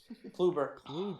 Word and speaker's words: Kluber: Kluber. Yep. No L. Yeah. Kluber. Kluber.